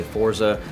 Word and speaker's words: Forza: And, you know, so Forza sounded exactly like it's spelled, and it's very easy to spell. It's 2 syllables, and I liked it.